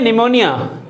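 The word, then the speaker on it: pneumonia: हैं next spelling है निमोनिया ये ये करेक्ट है ये निमोनिया ये लिखा ही मैंने रंग तो यह निमोनिया रंग स्पेलिंग है क्योंकि इसका प्रोनंसिएशन तो शुरू होता है एन से लेकिन इसका जो वर्ड शुरू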